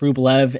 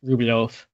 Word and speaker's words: Rublev: you look on um you know how it's spelled in English you're going to see and e at the end look like it you know Andre rublev um but ten Russian it's ruof um for all sorts